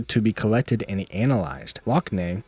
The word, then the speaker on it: Lockne: Lockney, I think it's actually pronounced Lochna, by the way, but I don't care. I like Lockney better. That's how it looks like it's supposed to be said.